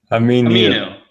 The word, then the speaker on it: Aminu: Aminu.